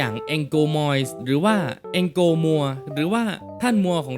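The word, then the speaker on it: mois: น่า รัก อย่าง แองโก Mo หรือ ว่า แองโก มัว หรือ ว่า ท่าน มัว ของ เรา นั่น เอง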